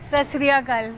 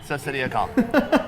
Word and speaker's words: Sat Sri Akal: Sat Sri Akal. Yeah, Sat Sri Akal.